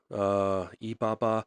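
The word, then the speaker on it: 八: Ba. I mean, ba is an auspicious number in Chinese. Um, they they say it rhymes with fa, like to in like there's a word fa cai.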